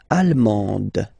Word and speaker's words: allemande: L'Allemagne, allemand, allemande. Okay, same thing here. Okay, you don't pronounce the final D, but then you pronounce it here for the feminine form.